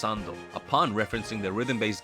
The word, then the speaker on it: 3nd: interesting though as it takes the number three which is pronounced as sun in Japanese and mixes it with the ND selfix you would use